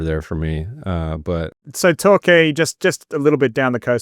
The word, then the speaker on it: Torquay: Well, I years ago, there was a conference in Torquay. Did I pronounce that right? Torquay.